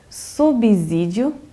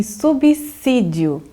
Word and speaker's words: subsídio: Pois é, Thaís, é interessante porque a regra geral da língua portuguesa, o S ele tem som de Z quando ele está entre duas vogais.